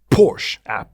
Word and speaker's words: Porsche: The first to actually implement Nikasil in a piston engine was Porsche, that's how you say it.